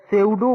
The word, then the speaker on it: pseudo: तो जो ये सेंट्रीफ्यूगल फोर्स है उसे हम सेउडो फोर्स, यहाँ पे P साइलेंट है लेकिन इसे लिखेंगे PSEUDO, लेकिन पढ़ेंगे सेउडो फोर्स।